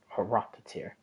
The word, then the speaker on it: Horoptatir: Horoptatir. Okay, that's how you say his name.